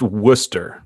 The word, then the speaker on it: Worcester: for that night so it is pronounced Worcester just so you know